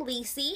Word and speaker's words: Lisi: my YouTube name uh it is my first name Lisi if you guys didn't know how to pronounce it and Deanna is my